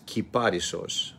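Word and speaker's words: κυπάρισσος: The word in Greek is kiparisos, of course mispronounced in English and in other languages. Kiparisos is now pronounced cypress.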